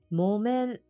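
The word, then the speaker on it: 木綿: 面音読みの言葉モメンコットンクースのことをモメンと言いますこれ木ですがもと読みます気をつけましょうもえ訓読みわたわ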